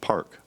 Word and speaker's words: PARQ: those four components are spelled out in the acronym parq and pronounced Park P stands for procedure